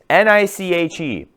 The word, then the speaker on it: niche: N I C H E that's pronounced niche.